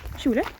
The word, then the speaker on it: Tjolöholm: So Tjolöholm, the name, is actually from the 1200s, and locals say Tjolö.